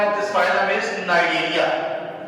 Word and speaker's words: Cnidaria: First of all, Coelenterata and the nickname and the other name of this phylum is Cnidaria, where C is silent.